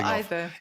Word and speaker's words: either: It can be either or either. It can be either or either? Yes. The Oxford Dictionary will give you both.